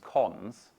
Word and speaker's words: cons: And this one is pronounced cons.